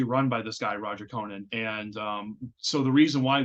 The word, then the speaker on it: Conant: A lot of people also don't know how to pronounce the name. As far as I know, it's pronounced Conant, but whenever I'm using GPS, it's like, go on to Conant Street. I'm like, no, it's not how it's pronounced.